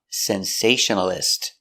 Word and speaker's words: sensationalist: 5 syllables. Sensationalist. Stress is on the second syllable.